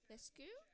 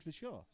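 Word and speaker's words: Verschoor: I can't pronounce his name. It's his name. Vescu? Oh, Richard Vishaw.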